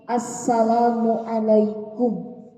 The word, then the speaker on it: Assalamualaikum: nya jangan Assalamualaikum atau selama Waalaikum Assalamualaikum tapi Assalamualaikum pasti itu nanti ini akan berhubungan juga dengan vokal ya dengan pelafalan dengan artikulasi yaitu kepastian dalam mengucapkan salam